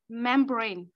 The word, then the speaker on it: membrane: So the word membrane. Pressing the breast is on the second syllable, so membrane. Brain, membrane. So it's on the second syllable, not membrane, it's membrane.